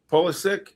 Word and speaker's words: Pulisic: Pulisic, is that how you say it? Pulisic? Pulisic, yeah.